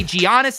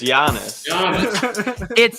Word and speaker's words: Giannis: to say his name i don't say giannios anymore it's guianas i got it i think that's right it's just giannis it's the official greek pronunciation jack maybe read a